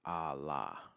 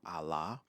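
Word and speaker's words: ALA: My most recent video on my new channel, Allah. The new channel is is on YouTube. It's entitled Allah. Um Allah is an acronym. It's spelled A L A.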